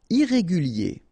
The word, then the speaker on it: irrégulier: Irrégulier. Okay, remember, I-E-R at the end of your word here, it will be ye, okay? Irrégulier.